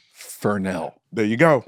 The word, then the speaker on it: Fresnel: What's a Fresnel? What's a Fresnel? And my teacher just looked at me and said, it's pronounced Fernell.